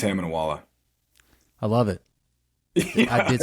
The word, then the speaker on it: Itamunoala: It's Hamna Wala.